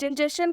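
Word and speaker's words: injection: इंजेक्शन का मतलब होता है घूस। यहाँ पर एस के बाद TION है इसलिए टी का उच्चारण च हुआ है।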